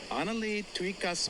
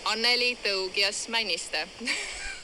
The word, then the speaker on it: Anneli Tougias Maniste: But the correct way to say my name is Anneli Tougias Maniste.